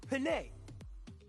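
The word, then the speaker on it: Dijonay: her character is damaged it's pronounced penae like the spaghetti y'all it's all part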